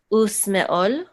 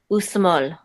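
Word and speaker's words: ושמאל: Usmeol. Small. You know not to pronounce the aleph here because there's no vowel associated with the aleph. Okay. Usmol.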